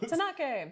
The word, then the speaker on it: Tαnakɛ: It's a little bit different for English speakers because we use a lot of what's called diphthongs in English. So we would tend to say like Tnakɛ at the end, that kind of sound, but it's just Tnakɛ.